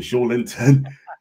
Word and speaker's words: Joelinton: Bruno Joelinton, that's how you pronounce it, Joelinton, and of course, Miggy Almirón.